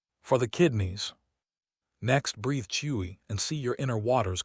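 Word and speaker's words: 吹: Chui, pronounced like chwi with a forceful exhale, which is associated with the kidneys.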